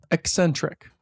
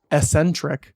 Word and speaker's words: eccentric: no Adam you know it's eccentric not Ecentric it's it's with an X eccentric wait this is the way no it's just not pronounced Ecentric I think it's EC